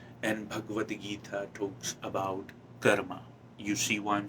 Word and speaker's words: karma: that's what is important a lot about dharma and karma which i'm pronouncing it in a very traditional indian way of course um if